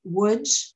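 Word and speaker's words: Łódź: the left is from woods which is spelled l-o-d-z and it looks like it should be large but it's wood and the one in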